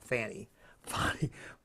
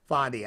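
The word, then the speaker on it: Fani: I mean, this poor judge, he just sat there and just let Fannie, I guess it is, not Fannie, Fonnie, I can see why she changed the pronunciation, walk all over him.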